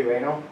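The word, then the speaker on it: Renaud: Billy Reno, it's a Reno Mowing or Excavation, it's a construction company, but he also mows.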